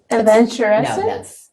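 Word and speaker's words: aventurescence: like looking at adventuring it's Adventure Ence it's like Adventure the same kind of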